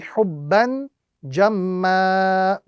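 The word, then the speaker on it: حبا جما: when we are stopping, the rule is simply to convert the tanween into a single fatha and apply the prolongation of 1 to 2 seconds. So the correct pronunciation or the correct method of stopping on this particular phrase would be hubban jamma.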